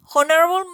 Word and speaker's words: honorable: So here, as we can observe, the word honorable is spelled with H, but the H is not sounded.